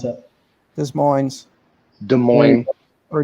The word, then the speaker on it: Des Moines: pronounce it this morning's des moines or des moines the s is silent on it's dub like you're